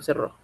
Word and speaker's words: cerró: Yo creo que salta a la vista que sea, no debe ser cerro, sino cerró. Cerró. Palabra aguda que termine en vocal, Paco.